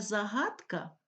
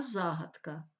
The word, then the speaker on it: загадка: не дрова а дрова правильно не загадка Правильно а загадка Не колосок а колесо